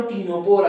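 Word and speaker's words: Ctenophora: Phylum टीनोपोरा कहते हैं। Phylum टीनोपोरा, सी silent है, ये बात याद रखें।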